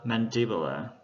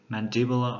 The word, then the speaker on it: mandibular: Các bạn lưu ý về cái trọng âm nó sẽ thay đổi. Ở danh từ của chữ hàm trên thì trọng âm rơi vào âm thứ hai, tính từ thì rơi vào âm thứ nhất.